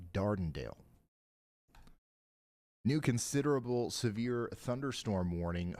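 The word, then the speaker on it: Dardanelle: So, yot just pronounced all of that wrong. It's not Sidelia. It's more like Sidelia. And it's not Dardenale. It's a little bit more like Dondale.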